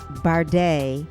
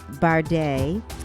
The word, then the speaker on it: Bharde: lot at the start of our podcast I mispronounced last name it's bar de bar de is the way that it's pronounced is